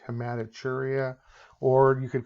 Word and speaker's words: hematuria: Even though it looks like a T, it's pronounced CH, hematuria.